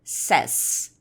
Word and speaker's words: says: Presta atenção que a pronúncia disso daqui é says. Says.